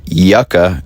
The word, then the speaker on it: Yucca: And I reloaded just south of Kingman in Yucca is how it's pronounced.